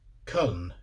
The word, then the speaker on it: Köln: in question is colon which is called K in Swedish with a hard k k uh o dots Ln which it's also called in German with the same spelling so that explains that